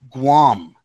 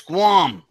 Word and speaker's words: Guam: It hits Guam. And it rhymes too, by the way. Here comes the bomb.